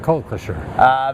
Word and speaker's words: Kokukusher: Kokukusher. Oh, that's pretty close. You must not be an English teacher. No. Just like it's spelled, Kokukusher.